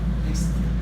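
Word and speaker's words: mixte: 그 다음에 이 두 가지를 계속 리프레시해 가면서 만들어내는 방법, 르방 믹스처의 불어식 발음이라고 했죠. 믹스트.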